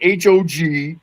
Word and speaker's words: HOG: I mean, no one's going H O G and no one's calling it should it should be pronounced how it looks.